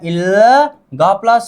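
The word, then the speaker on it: 일곱: का उच्चारण आधा होता है बल, मतलब इसका उच्चारण हो गया इल, ग प्लस ओ, गो, ब नीचे आ जाने पर आधा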